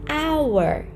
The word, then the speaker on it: hour: H is sometimes vowel, like here, an hour, an hour. Hour start with H, but in pronunciation, it actually starts with a.